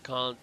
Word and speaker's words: Kant: The philosopher Kant, don't report me. K-A-N-T. That is how it's pronounced.